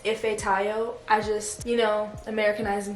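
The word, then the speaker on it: Ifetayo: you don't know my full first name is ify tayo i have known pronouncing it wrong i know i'm supposed to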